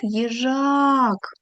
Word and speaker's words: їжак: Наголос падає на а. На другий склад їжак.